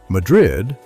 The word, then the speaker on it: Madrid: Madrid, locals say Madrid, sits in a narrow valley between Albuquerque and Santa Fe along the Turquoise Trail.